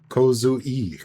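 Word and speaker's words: Kozue: I'm gonna take a guess and it's pronounced Kozu. Kozu-e. Kozu-e. Okay, Kozu-e. I was wrong.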